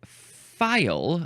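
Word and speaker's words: faille: have have failed me the next word is file that is how it is pronounced it is spelled f a I L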